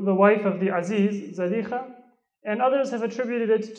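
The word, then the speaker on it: Zulaikha: wife of the Aziz, we often call her Zulaykha, but the proper pronunciation is Zalikha.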